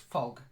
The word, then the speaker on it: fog: better and then fog it's not like oh it's an O fog fog that's better fog shorter not fog just fog quiet that's messy yes